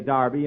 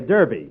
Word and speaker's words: Derby: Saturday bill that's Derby the English say Darby and the Americans say Derby yeah and the losu